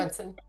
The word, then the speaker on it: Brunson: Branson. Brunson. Yeah. Sorry, I can never say his name right. I always want to throw an A in there.